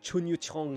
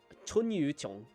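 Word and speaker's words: Chunyu Qiong: Yeah, see, I say essentials, and then I just have somebody like Chun Yu Chong here. Or, wait, that's not how you say his name. It's Chun Yu Chong.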